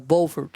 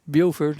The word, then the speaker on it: Beaufort: Well, the first thing was we got off the train at what they call Beaufort, South Carolina. Everybody else says Beaufort. It's all spelled the same way.